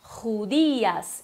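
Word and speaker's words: judías: Tu tens que pronunciar judias. Então o som do J normal, ru. O D fraco, dias.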